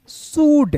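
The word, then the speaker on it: should: करना है एस एच ओ यू एल डी शुड क्या पढ़ेंगे शुड पढ़ेंगे तो चलिए दोस्तों आज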